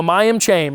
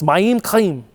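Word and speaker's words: מים חיים: because you always put in Hebrew, the emphasis is on the second syllable, so it's Mayim, Chaim. What's that? You know, in Hebrew, it's that like you're clearing your throat sound. It's Mayim Chaim.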